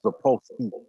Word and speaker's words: Sapolsky: Go to do Robert Sapolsky. Okay. Robert, I think it's Sapolsky, D-A-P-O. Wait. Spell it again. D-A. Say it again. What's his name? Sapolsky. D-A-P-O-L-S-K-Y. S-E-Y. S-K-Y. Sapolsky.